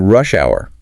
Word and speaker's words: rush hour: do this they redefine rush hour with specific morning and evening times noting the stress on the first word because it's a compound